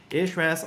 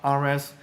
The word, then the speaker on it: Ahrefs: For example, if we use something like Ahrefs, Ahrefs or RFs, depending on how you like to pronounce it, is a pretty popular SEO tool.